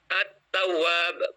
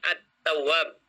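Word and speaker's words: التواب: Contohnya, at-tawwab, bukan al, tapi at-tawwab. Sehingga lamnya dilewatkan, tidak dibaca.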